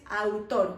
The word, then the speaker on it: autor: In Spanish it's autor without H. Autor. ¿Sí? We don't have that structure, TH, we don't have that. It's always T and after that a vowel. So, autor.